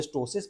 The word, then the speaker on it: ptosis: it is grade one of sagging also called astois pt o sis it's a difficult to pronounce word this amount of sagging can easily